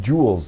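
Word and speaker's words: joules: and I said um it's Jewels like Family Jewels right now yeah yeah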